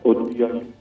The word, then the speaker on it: Oduyoye: Okay, sorry, is pronounced Oduyoye.